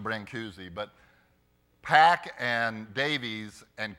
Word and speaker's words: Brancusi: interesting in the book the author says the pronunciation of Brancusi is brand couche I don't know that's right but I'm used to bring koozie but pack and Davies